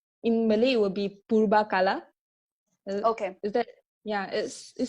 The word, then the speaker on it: Purbakala: In Malay, it would be Purbakala. Okay. Is that, it sounds... Yeah, it's pretty similar. So it was Purvakala, but the interesting fact here is that the sound V often changes to B, even in some of